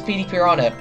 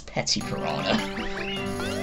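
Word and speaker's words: Petey Piranha: go yeah that is pd piranha and fun fact i used to say his name as petty piranha for some reason i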